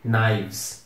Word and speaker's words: knives: Então, VES, com a pronúncia de knives.